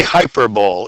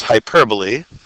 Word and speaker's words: hyperbole: And never say hyperbole if you want to impress your friends, because the correct pronunciation is hyperbole.